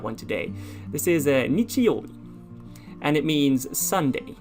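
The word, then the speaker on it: 日曜日: teach you that one today this is a nichioli and it means sunday it's the day of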